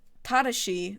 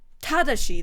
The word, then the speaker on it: Tadashi: If you pronounce it in Japanese properly, if you use the Japanese syllabic structure, Tadashi.